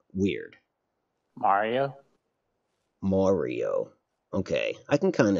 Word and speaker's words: Mario: My wife tells me that I pronounce Mario weird. Mario?